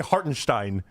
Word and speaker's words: Hartenstein: This is how you say Hartinstein where you do like your Germanstein.